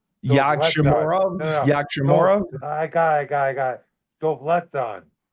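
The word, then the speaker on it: Yagshimuradov: So I think that's pronounced Yagshamorov. Yagshamorov. I got it. Dovletzan. Yagshamorov. Okay. Dovletzan. Yagshamuradov.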